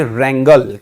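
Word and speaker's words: wrangle: और जो वर्ड है इसका जो उच्चारण है वो है जी रेंगल।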